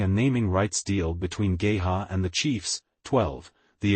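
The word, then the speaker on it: GEHA: League NFL the stadium has been officially named Gaya field at Arrowhead Stadium pronounced GHA since March 2021 following a naming rights deal between Gaya and the Chiefs 12 the agreement began at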